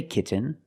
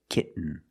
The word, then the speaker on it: kitten: the N example kitten you can say kitten but most people say kitten you do the stop T kit you don't release and you fall to an N kit when you make